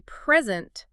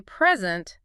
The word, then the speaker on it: present: But if I say present, stress on the second. It means to offer something, like a presentation. Exactly. Same spelling, different music, totally different meaning.